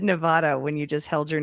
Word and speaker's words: Nevada: You were pronouncing Nevada wrong. I did it for years, too. Key word is were back when I say it like Nevada. But it is Nevada. That is correct.